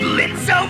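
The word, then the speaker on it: Blitzø: something already is that blitzo my sensor spot up air I guess the kitties are still running away from you huh no oh is silent now just like your audience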